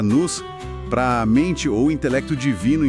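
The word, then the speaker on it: νοῦς: Ele até usa o termo grego no que se pronuncia nus, para mente ou intelecto divino envolvido nisso.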